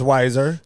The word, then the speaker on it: Weiser: Or some people call it's Weezer, Weiser. Kind of goes. I think it's Weiser. Yeah. Like Budweiser.